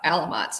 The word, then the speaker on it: Alamites: some some alien creatures is it alamites yeah alamites is how they how they pronounce it yeah and he fights